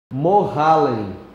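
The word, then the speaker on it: Mohallem: escreva assim Eugênio bem como se fala mohalen se escreve m de Maria momole o nome do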